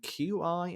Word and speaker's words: qi: nature and qi energy i'm going to say that again because i think it's chi energy energy it is yeah do you know how i know that dan how it's because um it's spelt q i as i've i said